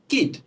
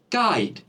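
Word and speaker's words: kite: আচ্ছা, ঠিক তেমনি KIT উচ্চারণ কি হবে? কিট। কিন্তু KIT উচ্চারণ কিটি না হয়ে হবে কি? কাইট।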